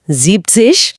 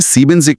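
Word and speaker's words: siebzig: जीपसिश। एकदम सही। नंबर 70 में सीबिनिक के बजाय जीप्सिश हो जाता है।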